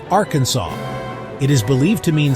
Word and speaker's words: Arkansas: natives of those lands, as Arkansas, a name that the French pronounced Arkansas.